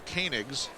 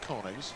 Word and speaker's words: Koenigs: It's Koenigs, not Koenigs. See, we have all these